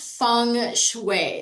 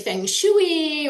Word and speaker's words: Feng Shui: It's pronounced funue. So, uh that is a little bit different. Sometimes I hear people say fangg shui or there's all kinds of different ways people